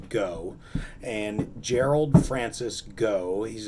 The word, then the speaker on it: Gault: gerald francis go now it looks like Gault GA ult pronounced to go and Gerald Francis go